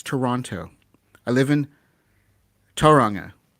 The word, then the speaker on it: Toronto: i live near toronto if you're living in ontario it's toronto listen to the pronunciation listen to the pronunciation it's toronto right toronto i'm going up i'm going to toronto this weekend yep going to toronto this weekend you take letters out this is no disrespect i